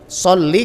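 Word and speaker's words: صلّ: Sholli nggak boleh panjang.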